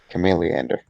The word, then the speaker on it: Chameleander: one more action hmm um how do you pronounce it chameleander chameleon yeah chameleander i was trying to cut off the lead